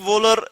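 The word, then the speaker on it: Wöhler: तो इसने क्या किया, फ्रेडरिक वोलर, इसको हम प्रोनाउंस कर सकते हैं फ्रेडरिक वोलर।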